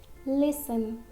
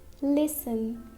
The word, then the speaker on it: listen: ends with STEN, okay, if a word ends in STEN, so letter T is silent in that word. For example, listen, listen. This word is ending with STEN, STEN. So this T is silent. It is listen.